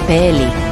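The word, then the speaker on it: פלאי: aunque se asemejan bastante, no se pronuncian iguales, puesto que la utilizada en el libro de Jueces es Peli, que significa secreto, y la utilizada en Isaías Pelé, que significa maravilloso.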